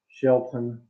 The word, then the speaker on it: Shelton: Shelton, that's how you say his name.